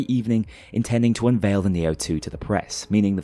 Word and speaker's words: Neo-2: state-of-the-art carbon capture prototype, the Neo-2, apparently named that due to rhyming with CO2, and procure a solid